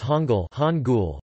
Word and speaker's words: Hangul: The Korean alphabet, known as Hangul, from Korean Hangul Korean pronunciation, Ha-N-L, has been used to write the